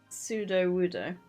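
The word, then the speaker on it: Sudowoodo: did it again was absolutely soaked that it's pseudo woodo oh yeah I knew I was saying it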